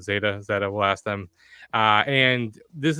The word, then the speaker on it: ZetaBlock: How do you pronounce it? I think ZetaBlock. Zeta.